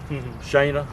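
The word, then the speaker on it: Shaina: Shana is the way you pronounce it.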